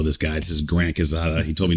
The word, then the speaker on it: Quezada: This is Grant Quezada. He told me not to church it up, which I'm not. But it's Grant Quezada. Quezada. Yeah, that's Quezada. Like the church way to say it.